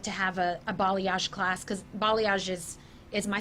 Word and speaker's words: balayage: So balayage is the way you pronounce it. I thought it was balage.